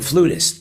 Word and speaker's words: flautist: sense there you go I like the way you said it flautist who would have thought that I would have called it a flutist myself but it is a